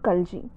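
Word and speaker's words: Khalji: about the kalchi dynasty so if you pronounce it as kinji dynasty also so kalji dynasty it was ruled from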